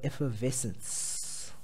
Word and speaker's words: effervescence: sorry not ever people pronounce it as ever but it's effer uh if a effervescence okay if you ever